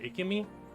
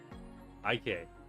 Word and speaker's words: Ike: Is it Ikimi? I tell me if I'm even close. I know you've been in here before, though. I've never asked how to pronounce the name. Ike. Ike. Okay.